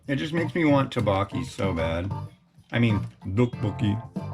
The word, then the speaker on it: tteokbokki: there and they have tteokbokki and it's spelled T-O-P-P-O-K-K-I. Tteokbokki, you know? I know that's not correct, but it's harder to get Westerners to pronounce it correctly, and if they say tteokbokki, it's understood.